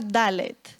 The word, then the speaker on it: dalet: os he compartido en esta mañana es se pronuncia dalet Y esa letra hace referencia a el que